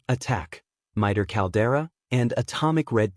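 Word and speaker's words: ATT&CK: Tools of the trade include the MITER AT and CK navigator pronounced just like the word attack, MITER caldera, and atomic red team.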